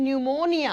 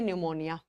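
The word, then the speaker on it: pneumonia: निमोनिया की spelling P से शुरू होती है, है ना? निमोनिया की वर्तनी कहाँ से शुरू होती है? यह ' P' से शुरू होता है, लेकिन 'P' साइलेंट रहता है।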